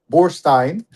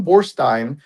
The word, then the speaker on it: Borstein: it's Borstein, not Borstein, because he says if it's Harvey Weinstein, then you've got to be consistent. EIN. So it should be Borstein. And so it's Borstein.